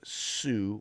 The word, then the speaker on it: Hsu: the her name is sue or h hsu is pronounced sue uh but anyway it's